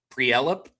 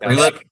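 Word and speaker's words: Prielipp: Pre-lip. Pre-lip? That's how you say it?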